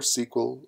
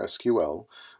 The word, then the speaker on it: SQL: least a bit about structured query language or sequel or SQL whichever way you prefer to pronounce that because if you